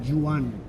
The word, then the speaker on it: Joan: So they the name Juan as you know here as any Spanish, we write it with an O because we pronounce it Jan.